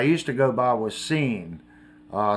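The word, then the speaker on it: San: to go by was scene uh some people pronounced it Shan it was s a n i always pronounced it scen uh but most people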